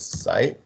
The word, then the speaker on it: psi: So so expected value, this is the psi, called the psi, SAI, pronounced as psi, is in the Greek letter.